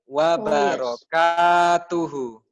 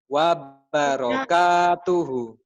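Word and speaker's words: وبركاته: Listen to the long, which one is the long, which one is the short. Wabarakatuhu. Wait. Wabarakatuhu. Wabarakatuhu. Yes. Okay? The ta is not tak marbutoh because that's not the last, ya. Bukan di akhir, jadi bukan tak marbutoh, berarti tak biasa. Tak yang biasa.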